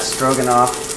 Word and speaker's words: Stroganoff: Someone says, how do you pronounce Stroganoff? Pretty much just like that, Stroganoff.